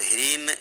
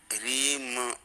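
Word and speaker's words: ह्रीं: जैसे कहीं आप पढ़ते हो, आता होगा बीज मंत्र में ह्रीम, तो ह्रीन नहीं पढ़ना है, ह्रीम माँ है, ह्रीम ऐसे मुंह बंद हो गया, ह्रीन तो मुंह खुला रह गया, ह्रीन। अगर ह्रीम तो मुंह बंद हो गया, ह्रीम ऐसे।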